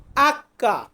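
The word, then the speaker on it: acca: বলি এরপর আছে এইচ এইচ কে আমরা বলবো আক্কা আক্কা এটার উচ্চারণ আমরা ইংরেজিতে করি এইচ ই আমরা এটাকে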